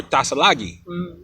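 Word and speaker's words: Tsalagi: Like Cherokee is really Anuia. It's not Cherokee. Or Tasalagi. That's what you would call Cherokee.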